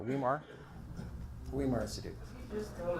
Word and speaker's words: Weimar: So that's really my life, is running Weimar Institute, keeping it financially solvent and helping it grow.